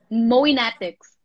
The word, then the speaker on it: Mowienatics: Now, Can I ask you, I want to make sure I'm saying it right. Do you have a name for your fans? Yes. Mowienatics. Mowienatics. Yeah.